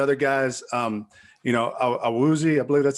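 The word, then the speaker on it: Awuzie: some of the other guys um you know a woozy i believe that's how you say it from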